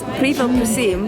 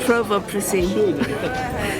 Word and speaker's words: Pivo prosím: It is Pivo prosím. I think I said Provo prosím.